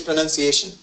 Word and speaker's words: pronunciation: There is no noun in that. No N-O-U-N, right? It's none, N-U-N, yeah?